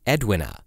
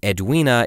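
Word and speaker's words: Edwina: pronunciation in part one I referred to her as Edwin but I have since come to realize that edua is the proper way to say that name so apologies we'll be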